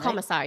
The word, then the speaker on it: Komisar: This is from Erica Komisar, is that how you say her name? Oh, Komisar, yeah, Komisar. Komisar, Komisar. Okay.